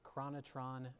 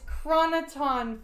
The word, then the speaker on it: chroniton: of them saying the question you might be pronouncing say the damn question again how was Data clearing the US USS Enterprise of chronotron fields chroniton it's chroniton fields and he had to [ __